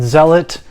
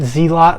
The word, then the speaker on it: Zealot: new backfire zealot s yes i said zealot and not z lot like in my previous video a lot of you